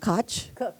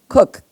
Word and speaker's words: Koch: Tisch Center for Food, Education, and Policy at TC, is it pronounced Koch? Cook, Cook.